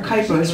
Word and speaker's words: Kuypers: have heard everything for kypers rhymes with Hyper j a n t